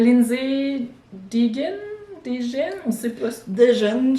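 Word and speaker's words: Degen: Deegan, je pense. Deegan. Ça s'écrit D-E-G-E-N.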